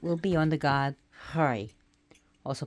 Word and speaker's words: Frey: So, Frey, who is known by so many different names, but he's pronounced Frey, or Freyr, not Freya, his Freya, his sister, but Frey.